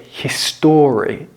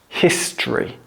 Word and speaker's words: history: Don't pronounce it history. It's history. History. Yesterday is history.